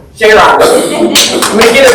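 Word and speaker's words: Jayaraman: Jayram.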